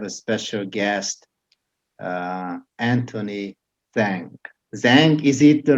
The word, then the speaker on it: Zhang: Zhang, is it the right? How you pronounce it? Zhang, you got it, man.